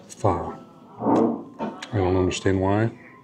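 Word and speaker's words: phở: good we got lettuce like diced onions Vietnamese food is very clean very you know few ingredients let's try the beef fa it's spelled pH H but it's pronounced fa I don't understand why F but I would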